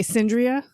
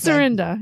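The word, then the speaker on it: Cyrinda: Cynria. I imagine. But I imagine that's how David Johansson would pronounce like Sandria. New York. It's Surrenda.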